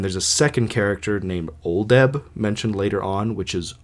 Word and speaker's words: Oldeb: So there's a main character named Augustus Bedloe, and his name is spelled Bedloe. And there's a second character named Oldeb, mentioned later on, which is Oldeb.